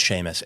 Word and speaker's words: Seamus: I think it's pronounced Sheamus, but it looks like it's spelled Seamus cuz I did that wrong cuz it's Irish, isn't it?